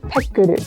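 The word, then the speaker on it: ペックル: In Japanese, Pekkle is pronounced pekkuru, and it doesn't actually have a specific meaning.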